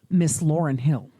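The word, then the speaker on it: Ms. Lauryn Hill: will actually sue you if you say her name wrong. So I'm going to say it right. Miss Lauren Hill.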